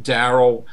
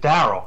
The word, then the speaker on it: Daryl: I always and Daryl. Yeah. Well, I said Daryl, but it rhymes with Carol.